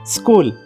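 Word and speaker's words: school: वाचा मला सोप आहे एस H double O एल काय आहे हे चूल आहे का चल नाही काय स्कूल मग एच डबल स्कूल स्कूल वाचताना त्या शब्दामध्ये सी एच चा उच्चार केला जात नाही स्कूल बोलताय फक्त मग सी हा सायलेंट लेटर्स आहे हे लक्षात ठेवा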